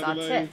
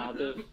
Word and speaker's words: Atif: And we felt like, there's nobody more powerful than Atif, nobody has a more powerful voice than Atif. So it's Atif, not Atif.